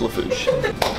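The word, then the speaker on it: Lafourche: See, in this case, you just break it down into the syllables. So it's three, La Forche. It's La Fouche.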